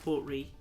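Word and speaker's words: Port Ruighe: I believe it's pronounced Port Ree.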